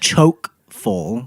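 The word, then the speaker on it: chock-full: just came out wrong chock full comes from Middle English the word choke full enough that's how you say it meaning crammed full possibly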